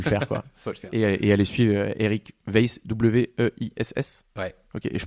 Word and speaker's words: Weiss: Et allez suivre Eric Weiss, W-E-I-S-S. Ouais. Ok, et je prononce bien?